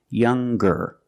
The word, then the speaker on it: younger: ER or with est we're going to pronounce the G sound the hard G so it's younger ger with a good sound stronger the youngest again